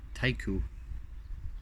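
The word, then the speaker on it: Taikyu: it took 50 races from 50 starts from 1991 to 1997 in the N1 super Tycoon it's not taiku but thank you it's about it's it's spelled t-a-i-k-y-u so Japanese word thank you I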